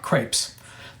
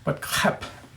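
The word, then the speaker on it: crêpe: spill food who cares okay so um clip pronounced not crepes crap that's the way the French pronounce it and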